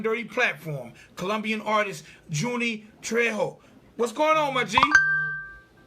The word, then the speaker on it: Trejo: them jay's james messed me up so properly pronounce your name for the people yeah so i said it right trejo yeah yeah yeah okay all right i didn't